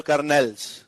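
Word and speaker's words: colonel: कर्नल में आर नहीं आता।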